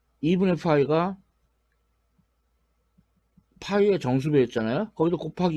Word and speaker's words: π: 파이가 파이의 정수배 따라서 파이는 발음을 잘해야 되는데 얘는 F 발음이에요 파이 이거는 피 발음이에요 파이 그래서 유상수 파일과 파이 에 그 2분의 파이가 π에 정수 배웠잖아요 거기도